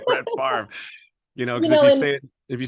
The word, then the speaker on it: Favre: That's Favre. Favre. Like the R and the V are on the opposite side. It still says Brett Favre.